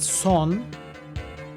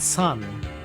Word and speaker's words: son: It's pronounced son, and it means the end. It's not son.